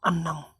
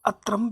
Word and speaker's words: अन्नम: जलम अन्नम, इसको अत्रम भी बोल रहे हैं लोग बाग। उच्चारण में ध्यान दे, जलम अलग हो जाएगा, मैं में से ए अलग निकल जाएगा। जलम प्लस अन्नम, ये डबल न है, एक आधा न है, ये एक पूरा न है।